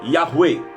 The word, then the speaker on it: Yahweh: Parce que le nom de Yahweh s'écrit par 4 lettres. 4 lettres qui en français nous donne YHVH. En français, ça nous donne YHVH, qui est prononcé Yahweh. Yahweh.